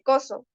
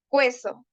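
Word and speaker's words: cuezo: cocer por ejemplo verduras no se dice coo verduras es cuzo verduras empar los vocablos impropios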